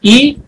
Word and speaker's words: y: So from 0 minutes till here, till 30 minutes, we use the word Y, which is pronounced as E in Spanish.